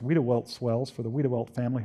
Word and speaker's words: Wediwelt: But luckily, the swells there, pronounced Wiedewelt swells for the Wiedewelt family who formerly owned